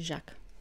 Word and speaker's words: Jacques: Тут следующий Жак. Жак. На французском вот это вот не читается, и буковка S в конце слова не читается.